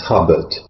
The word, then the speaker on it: Hobart: Now, at Blickling, the name is pronounced Hubbard, though it's spelled Hobart, but it's the same Hobart as the ex-penal colony in Tasmania.